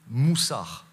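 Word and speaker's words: מוסר: est le plus présent c'est le mot moussard j'ai écouté sur internet la prononciation l'écriture plus compliqué mais il se dit moussa voilà c'est souvent pas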